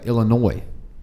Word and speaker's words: Illinois: being famila noise yeah Illinois there's an S at the end bro so you mean